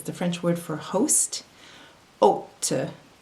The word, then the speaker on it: hôte: Remember that the H in French is silent. So the first word is the French word for host, hôte, hôte, hôpital, hôpital, hôtel, hôtel, rôle, rôle, fantôme, fantôme.